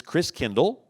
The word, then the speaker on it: Christkindl: And the German pronunciation of Christ child is Christkindl.